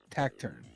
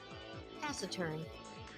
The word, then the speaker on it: taciturn: Tacturn. Tacturn. I think that's how you say it anyway. I mean, I feel like the I has to be silent. Taciturn.